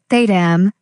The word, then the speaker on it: thumb: Saying the B in thumb. Correct pronunciation, thedam.